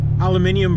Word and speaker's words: aluminium: Aluminium for you Brit bastards and aluminum for you American bastards.